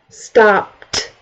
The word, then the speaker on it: stopped: If it is voiceless, it's a T sound at the end.